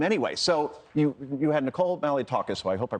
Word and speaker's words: Malliotakis: So you had Nicole Malliotakis, who I hope I pronounced her name correctly.